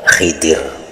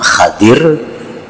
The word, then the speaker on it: Khidir: makanya digelar dengan gelar Khidir jadi membacanya ada dua cara yang pertama Khadir nabi Khadir atau Nabi Khidir KAD nabi Haidir jadi